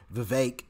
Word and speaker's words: Vivek: Your only competition is Vivek, right? I think that's how you pronounce his name, Vivek, instead of Vivek, how I've been pronouncing it.